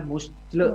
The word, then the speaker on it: muscle: Tulisannya muscle ya. Muscle. Iya. Kita juga lagi latihan baca muscle memory. Muscle, tapi bacanya muscle ya.